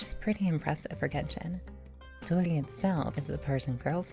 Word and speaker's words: Dori: Dori itself is a Persian girl's name for sparkling. More or less, it's pretty much the same pronunciation as the English version, Dori.